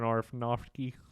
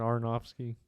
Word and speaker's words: Aronofsky: uh 2000 film by Darren arfanovsky I don't think that's how it's pronounced no I always up it's arnops here arnopsky yeah they're an arnofsky I was [ __